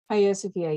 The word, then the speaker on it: Hagia Sophia: building in Istanbul, which I'm probably going to mispronounce it, the Hagia Sophia? Hagia Sophia, yes.